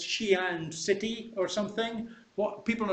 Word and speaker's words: Xi'an: Are they going to say Xi'an? Are they going to say Xi'an, okay? Because they don't know how to pronounce X as sh, okay?